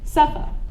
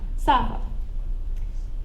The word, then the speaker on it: Safa: aren't pronounced same way because my name is pronounced Suffa not Saba and you're probably wondering